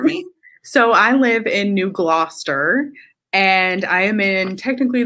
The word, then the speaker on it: New Gloucester: So Holly, tell me a little bit about where you are at and like pronounce the name of your town for me. So I live in New Gloucester, and I am in technically the Sebago Lakes region.